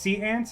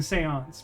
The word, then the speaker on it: séance: It's it's the lady who's holding the seance pronounces it sea ants like 85% of the time.